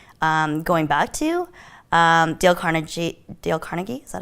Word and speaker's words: Carnegie: Dale Carnegie, is that how you Yep.